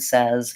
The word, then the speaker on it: says: says with letter s it has a Z sound at the end not an S sound so one way that you can train your brain to pronounce the word says correctly is to write